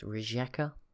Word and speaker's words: Rijeka: Also, I think this is pronounced Rijeka. I don't know, with more of a J sound in it.